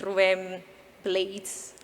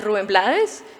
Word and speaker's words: Rubén Blades: We had the great experience of being with Rubén Blades. I heard that that's how you say it, but I've been saying all my life Rubén Blades.